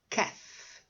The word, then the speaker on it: calf: Exemplo, life, knife, wife, calf. Tem um L, mas você não pronuncia, tá?